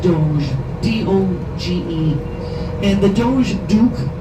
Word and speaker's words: Doge: The word looks like doggy, but it's pronounced Doge, D-O-G-E.